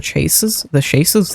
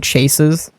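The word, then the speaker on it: chaise: I could put some of the chases there. I keep wanting to call them chases. It's pronounced chase, apparently. These. Google told me it was pronounced S-H-A-Y-Z.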